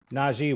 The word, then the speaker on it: Najee: Um, Naji, welcome to the show.